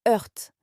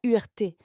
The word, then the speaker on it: hurt: To hurt, ça se prononce hurt. Attention à la prononciation, ce n'est pas URT.